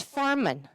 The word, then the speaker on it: Farman: I was like, he's like, "That does sound familiar, but but you're saying it wrong. It's farman Farman.